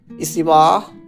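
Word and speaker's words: 椅子: ইস ইসু মানে chair উচ্চারণটা হবে ইসু।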